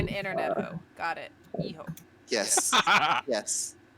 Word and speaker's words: Hijo: You ignore the H, you pronounce the I like an E, and the J like an H.